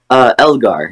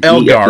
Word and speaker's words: Elgar: How do you say your last name, dude? I was going to ask you that. Elgar. Elgar. Yeah. Okay, I was like, I thought that's how it sounded.